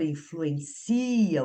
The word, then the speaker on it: influencia: ele vai ser verbo, e como a sílaba tônica dele passa a ser o si, ele não tem acento. Então, o educador influencia os jovens e não influencia os jovens.